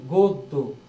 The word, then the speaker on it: গদ্য: মতন কিন্তু এখানে দেখো এখানে কেমন হয়েছে গদ্য উচ্চারণ কি গদ্য তার মানে এখানে তো অ নাই কিন্তু আছে